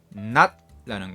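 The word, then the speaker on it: နတ်: 미얀마에서는 불교도이면서 낫또 믿는다 미얀마어에는 받침이 있기 때문에 낮다는 것은 디귿 받침으로 발음해야 합니다 낫다는 것은 영인데요이 영에게서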